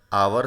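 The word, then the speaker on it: hour: तो यहाँ पर आप देख सकते हैं कि यहाँ पर आवर शब्द है और इसकी जो शुरुआत है वो एच शब्द से हो रही है, लेकिन इसका जब हम प्रोनाउंसिएशन करेंगे तो प्रोनाउंसिएशन की शुरुआत आ शब्द से यहाँ पर होती है, क्योंकि यहाँ पर हमारा जो एच है वो बिल्कुल साइलेंट है और एच म्यूट होने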